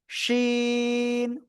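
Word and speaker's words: شين: তো এই অক্ষরটা হলো শিন। সার সার শব্দ করে 3 আলিফটা নিয়ে এই অক্ষরটা উচ্চারণ করতে হবে।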